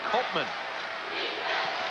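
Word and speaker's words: Koopman: go-to guy it's ko OPM am but it's pronounced Copeman chad peterson Galla made them less nervous chad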